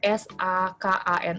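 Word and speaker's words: さかな: fonem S ya Ada s a k a na a awalnya dengan s dan shikashi sama juga ya awalnya dengan S huruf s pada kata Sakana berbeda pelafalannya dengan huruf s pada kata sikasi jadi S ini dan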